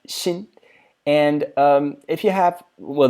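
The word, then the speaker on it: 辛: It's pronounced xin.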